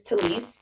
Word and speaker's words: Telice: it says uh it's my name but it's just spelled a little funky and spelled how it's pronounced um but my name is talise t-e-l-i-c-e uh to Lee